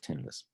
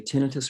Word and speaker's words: tinnitus: just by the way you can say tinnitus or tinnitus either way i think i said it wrong but there's no there's no right and wrong in fact i purposely switch back and forth so i don't sort of show preference to one or the other ah fair